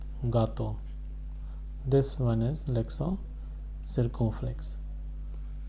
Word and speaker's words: gâteau: This is l'accent circonflexe. It is pronounced as gâteau.